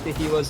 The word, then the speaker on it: Kahiwa: I don't know who you are mysteriously representing, but he says Kahiwa, so I'm gonna go with that. That's our only sort of direction for how to say this man's name.